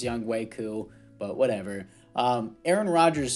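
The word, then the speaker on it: Yannick Ngakoue: callahan at db and young hoku i know it's pronounced young waiku but whatever um aaron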